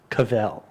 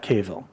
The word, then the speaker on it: Cavill: doing it for years it's Cavell not caval but that's what happens